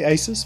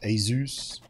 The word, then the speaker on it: ASUS: I say Asus, but apparently it's most closer to Zeus. Asus.